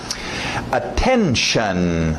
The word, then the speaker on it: attention: Attention, lembra do shun, esse T-I-O-N no final, né?